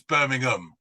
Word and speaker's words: Birmingham: word a place name with ham at the end we pronounce it um so it's Birmingham Buckingham Palace not Buckingham you guys are trying